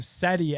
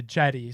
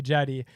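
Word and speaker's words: Cedi: Well, I remember everyone was calling him Seti at the beginning, and that was 2018. And I remember like the reporters, specifically asked like, how do you pronounce? And quickly it shifted from Seti to Jetty.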